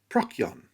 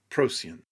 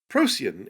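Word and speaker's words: Procyon: comments to the last video i have been pronouncing that name prakyon which is incorrect it was a lame attempt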